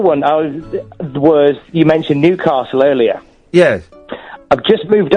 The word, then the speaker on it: Newcastle: I was you mentioned Newcastle earlier yes I've just moved up here and I was calling it Newcastle and I got told off for it cuz it's not Newcastle it's Newcastle Newcastle yeah yeah I got